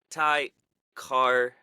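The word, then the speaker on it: Tye Kartye: Ty Carte. Yeah, no, that's it. That's how you say it.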